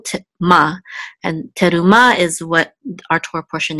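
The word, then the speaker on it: תרומה: Komets what an 8 the hay is silent so we'll just name terumah but the action is on the last syllable to Ma and terumah is what our torah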